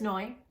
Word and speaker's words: Noy: like to share but my name is noy and it rhymes with joy and ultimately that's what